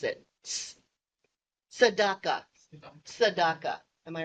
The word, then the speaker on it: Tzedakah: I looked it up how to pronounce it. Tzedakah.